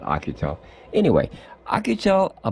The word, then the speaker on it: Oukitel: found out by akutel I think it's pronounced who could tell I always call it Akita anyway I could tell